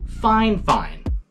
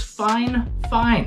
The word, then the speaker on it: FIFINE: it at it's spelled f fine but they pronounce it fine fine bear with me I asked about the pronunciation and they even sent me a message before I asked about the pronunciation it is fine fine they spelled it out and everything I said